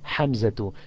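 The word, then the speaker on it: حمزة: Therefore, just like a female name, we do not pronounce a tanween on it. The reply, Ismuhu Hamzatu.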